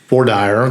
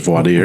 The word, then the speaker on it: voir dire: going to be um Vire the jury selection pronounced in Georgia as Vire pronounced everywhere else is Vadier Vadier.